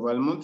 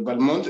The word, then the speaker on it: Balmont: Esto es porque, según estuve investigando, el padre de su padre, de Balmont, decía que tenía que acentuarse en la primera letra, es decir, él pronunciaba Balmont, pero después su primera esposa de Balmont, ella dijo, se debe decir Balmont.